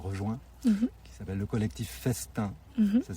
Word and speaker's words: Festin: personne nous a rejoint, qui s'appelle le collectif Festin. Ça s'écrit FE2S''TIN.